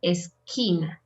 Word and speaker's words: esquina: have QUE and QUI, we say que or ki. Always. There's no exception. Que or ki. In this case, poquito, and here esquina.